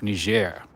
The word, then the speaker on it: Niger: Niger.